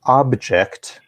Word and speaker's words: object: which we would pronounce object emphasis on the first syllable we're referring to things